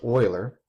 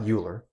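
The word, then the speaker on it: Euler: is called Oiler constant that's pronounced Oiler not uler Oiler constant and it's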